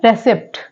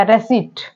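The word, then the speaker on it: receipt: and next word है रिसिप्ट रेसिप नहीं pronounce किया जाएगा क्या किया जाएगा रेसट रेसट यहां पर जो पी है वो यहां पर साइलेंट है पीटी वाला जो रूल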